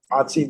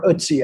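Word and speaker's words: Ötzi: Otzi the Iceman. yeah, Or Utsi, I think. Yeah, is Utsi, actually yeah. how it's pronounced.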